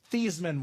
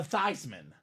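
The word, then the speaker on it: Theismann: this Heisman Trophy we're to change the pronunciation of your last name to thyman thyman for the Heisman it did not work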